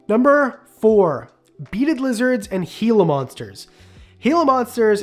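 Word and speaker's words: Gila monster: four beaded lizards and heila monsters heila monsters it is pronounced heila Monster by the way and Beed lizards are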